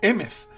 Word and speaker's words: Emeth: Y esa H al final hace que se pronuncie Emeth, y por lo tanto